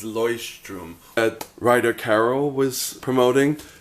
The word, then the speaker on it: Leuchtturm: It's not the Luchterm. The proper pronunciation is Leuchtturm that Ryder Carroll was promoting.